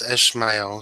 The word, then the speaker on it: Ishmael: It's Ishmael, so I mispronounced it there.